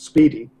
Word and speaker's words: SPDY: for because obviously it's it's pronounced Speedy but I couldn't actually